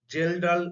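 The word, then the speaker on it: Kjeldahl: tkn that is total gelal nitrogen K is silent in domestic Su is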